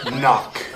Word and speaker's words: knock: and spell the word knock spell the word knock knock no there's a k you don't see how just because you can't hear the K doesn't mean it's not there spell it with a